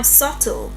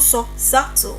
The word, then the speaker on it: subtle: Now, subtle. Not subtle. It's not sub subtle. Subtle.